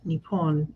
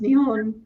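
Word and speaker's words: 日本: So the Japanese names for Japan are both Nippon and Nihon. I didn't know that either. I've been learning like when you get your language learning for the week and it says that Japan is pronounced Nihon in Japanese, I don't question it.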